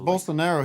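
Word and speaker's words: Bolsonaro: doing what he what he can this is bolster narrow he went over is am I saying it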